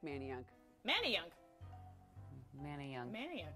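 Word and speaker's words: Manayunk: Manan I like Manan Manny young Manny young man you're actually correct it is Manny Young all right we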